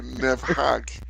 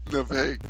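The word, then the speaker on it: Nepheg: I was gonna say Nefhag. Nefeg.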